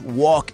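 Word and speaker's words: walk: Island también cuando hicimos Wok que es caminar No se pronuncia la L O tal os amo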